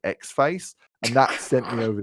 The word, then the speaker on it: Xfce: no category in which xfce is the correct choice and i once read in a forum that you're supposed to pronounce it x-face and that sent me